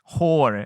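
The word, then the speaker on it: hoor: You have to say it like a Dublin person. Whore. Yeah. You're a cute whore. If you don't say it like that, it's a whole different thing.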